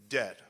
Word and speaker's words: debt: trying to pronounce de it's simply debt the bee dies the next one f